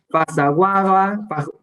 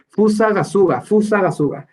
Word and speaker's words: Fusagasugá: Vallarta, de Zamora, Querétaro, Pasaguaga, no, lo pronunció súper mal, Pasagasuga, qué mal lo pronuncié, Fusagasugá, no se me olvida, Fusagasugá.